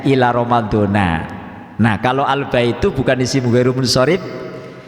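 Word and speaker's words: رمضان: kepada Ramadan yang lain nah ini saya bacanya romadhono Ila Romadhona itu Pak bacanya Ramadhan karena ini mubtada yang di ataskan kepada lafadz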